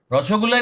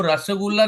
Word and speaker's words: रसगुल्ला: ओ वो रसगुल्ला, वो रसगुल्ला नहीं होता है. वो रसगुल्ला होता है. वो बंगाली को पूछो. You don't pronounce it द वे you normal people. रसगुल्ला रसगुल्ला हम बोलते हैं. बंगाली उसको रसगुल्ला.